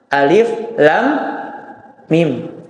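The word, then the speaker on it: الم: Nah, maka ayat ini dibaca sesuai dengan namanya. Alif, lam, mim. Ya, alif, lam, mim. Alif, lam, mim. Dibacanya demikian.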